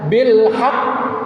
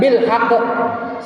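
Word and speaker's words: بالحق: Ba yang kedua mati karena wakaf ya sama dengan bilhaq. itu jangan bilhaq salah itu qfnya hilang satu perhatiin huruf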